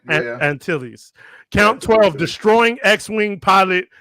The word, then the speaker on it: Antilles: Is that how you say his name? No, it's Captain Antilles. Antilles.